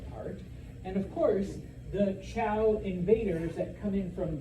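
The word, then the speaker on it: Zhou: A group of people known as, it's pronounced Chow, even though it's spelled with a Z. A group of people known as the Chow are able to cross the Gobi Desert and defeat the Shang society.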